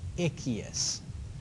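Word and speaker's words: ICEAS: cycle extended irration system and so that's pronounced IUS and IUS is a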